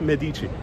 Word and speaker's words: Medici: who knows so svl says once again it's pronounced medici how how do you say that e i